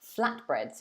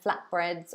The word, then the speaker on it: flatbreads: So you can see the pronunciation there, flatbreads. Obviously, if you're saying it kind of naturally in English, you might drop the T because it's easier. So you might say flatbreads, flatbreads, like that.